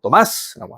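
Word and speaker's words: Tomás: 시작하는 거 또 마스 토마스는 또마스라고 합니다 참고로 근데 자 여성이면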